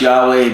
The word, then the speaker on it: Yahweh: And it's normally pronounced Yahweh, but nobody's supposed to know. We don't really know what it is.